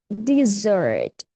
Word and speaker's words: dessert: Ya, yang ini S-nya dua, dibacanya dessert. Dessert artinya makanan penutup. Kalau S-nya cuma satu, dibacanya desert. Desert. Desert artinya padang pasir.